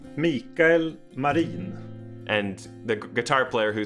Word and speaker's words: Mikael Marin: And your wonderful viola player, how do you pronounce his name? Mikael Marin.